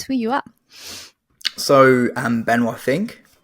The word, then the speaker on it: Benoit Finck: and tell us who you are so I'm benink it's pronounced benink in French um and I am an fpv